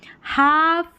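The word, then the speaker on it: half: इस ए का साउंड आ है। एफ को फ पड़ा है। और एल जो है वो साइलेंट है। देखिए हाफ, काफ, बिहाफ और हाफ वे।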